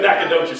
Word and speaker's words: Nacogdoches: But Nacogdoches is the way you say it.